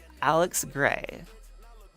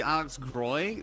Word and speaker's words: Graey: Uh, and I want to make sure I'm pronouncing this correctly. Is it Alex Gray?